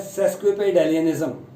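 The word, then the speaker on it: sesquipedalianism: तो इसकी जो प्रोनाउंसिएशन है वो है सेस्क्विपेडेलियनिज्म।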